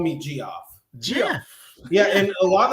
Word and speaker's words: Geoff: I feel like it's pronounced Geoff.